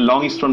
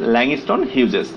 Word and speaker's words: Langston Hughes: তো ল্যাংস্টন হিউজেস, এই প্রোনাউন্সিয়েশনটা আমরা অনেকে ভুল করি, অনেকে লংস্টন বলে ফেলি, অনেকে হিউজেসকে হাগিস বলে ফেলি। হাগিস বলার কারণ হচ্ছে টেলিভিশনে অ্যাড দেখে হয়তোবা আমাদের এই ব্যাপারটা হয়ে গেছে যে হাগিস, চুচু ডায়াপার, এইরকম কিছু যে অ্যাডগুলো দেখি। ওকে, তো আমরা যে সঠিক প্রোনাউন্সিয়েশনটা শিখলাম সেটি হচ্ছে ল্যাংস্টন হিউজেস।